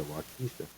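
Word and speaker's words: Waukesha: It's spelled W A U K E S H A. So, it's Polyw. Yeah, Wisha.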